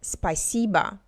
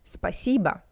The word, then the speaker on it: спасибо: Next, спасибо. The last vowel is pronounced as A because it's unstressed. Listen, спасибо, спасибо.